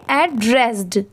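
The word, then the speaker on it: addressed: बस यहां पर लास्ट में ए डी लगने की वजह से इसे हम क्या प्रोनाउंस करेंगे? एड्रेस्ड। ठीक है? लास्ट में ड की साउंड जरूर आएगी।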